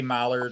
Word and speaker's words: Mallard: them of the Millard here we say Mallard over there I think I hear it pronounced Millard a lot um Joyce